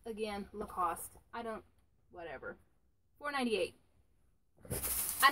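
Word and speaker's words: Lacoste: they missed this too lacost lacost that's how you pronounce it right the lacost like barrel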